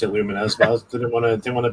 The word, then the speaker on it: Lumines: Ross says not to sound like a dick, but it's pronounced Lumines. Yeah, it does. Okay. He does. I always pronounce it Lumines, but I didn't want to be that guy who corrects people because it could be wrong.